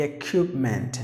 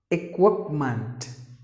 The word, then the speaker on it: equipment: next word is equipment that's an incorrect way of telling the equipment no not at all it's like this it whoop month you have to pronounce like this three sound three sounds equipment equipment equipment so that